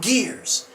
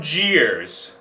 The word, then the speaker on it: Gears: news strive for accuracy i believe it's a soft g and it would be tom jeers swbr was led by